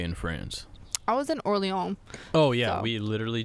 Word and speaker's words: Orléans: Well, you know, it's because we pronounced it Orleans and not Orléans.